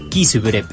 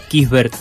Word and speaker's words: Kisbert: Tatiana Quispe y con Alan Kisbrep. Lo voy a pronunciar mejor, Abraham. Déjame buscar acá la información. Abraham Kisbert Alcón, ahí digo bien.